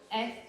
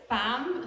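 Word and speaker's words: FAMM: named the museum fam F mm female artists of the M Museum it's also the phonetical way to pronounce famam so for all the foreigners who keep saying F they now WR it's fam um and uh yes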